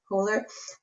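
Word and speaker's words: Köhler: Probably Kohler. Oh, really? And I know I don't say his name right. A German friend of mine said it's something like Kohler. Okay. Kohler.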